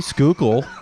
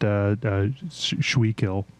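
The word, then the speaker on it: Schuylkill: I can't pronounce Oppenkampau. Oppenkampau, but I can say Skookle. So there you go. Someone on a podcast I watched pronounced it Schweekill.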